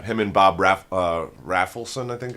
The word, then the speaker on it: Rafelson: and Bob ra uh raffelson I think or rafelson I don't know how you say his name but I think it's raffelson cuz that's another dude who